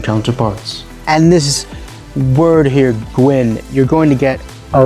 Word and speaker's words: gwen: and the feminine is gwen notice the feminine one is a bit lighter in the vowel sound and the masculine is a bit darker gwyn and gwen this